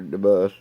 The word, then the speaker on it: Debus: DeBus.